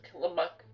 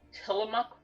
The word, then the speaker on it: Tillamook: It all begins with the place called Killamuk Rock. Now, it's not Killamuk, okay? It's Killamuk. Although it's spelled Tillamook, okay? It is pronounced Killamuk.